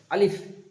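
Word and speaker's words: ا: আলিফ আলিফ আলিফ, যেমনটা একটা বাতাস বেরোচ্ছে, যেন দুটো ঠোঁট একসাথে হয়ে না যায়, আলিফ এরকম যেন না হয়, আলিফ হবে।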